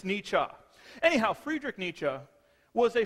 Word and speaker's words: Nietzsche: most people call him Nietzsche however if you are reading the German properly it's Nietzsche anyhow Friedrich Nietzsche was